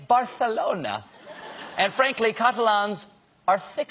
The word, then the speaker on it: Barcelona: The Catalans also pronounce it Barcelona, while the rest of Spain keeps saying Barcelona.